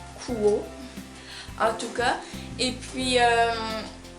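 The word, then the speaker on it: Quo: H que j'ai moi c'est la marque o je pense pense que c'est comme ça qu'on prononce Q u o Coo en tout cas et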